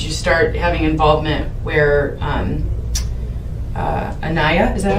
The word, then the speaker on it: Aniya: And how long after you started dating her in about June of last year did you start having involvement where Aniya, is that how you pronounce Yes, the ma'am.